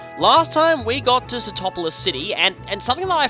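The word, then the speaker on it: Sootopolis: I was a kid, I actually pronounced this place Stupopolis. I don't know why, I just did. This was always Stupopolis City for me.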